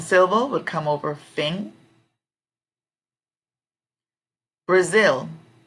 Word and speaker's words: Brazil: finger finger strong Silva would come over fing Brazil Brazil the strong syllable I think we'll come over Zil because